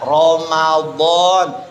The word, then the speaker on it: Ramadan: Ramadan ditulis Ramadhan. Ya, iya enggak? Harusnya Ramadan.